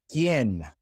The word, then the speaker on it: quién: The other situation in which the U is silent is when it comes after the Q. In Spanish, we always put a U after the Q, just like in English, but the difference is that it is silent when it comes after the Q in Spanish, such as in que and quién.